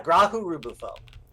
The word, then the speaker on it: Grahu-Rubufo: caves of cod with grahu or bufo is that how you pronounce it yes yeah graham bufo wonder so uh it's it's emphasis on the first syllable of each word good to see you